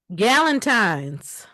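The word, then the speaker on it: Galentine's: Gallentine's Valentine. Instead of Valentine, you just replace the the the V with the G.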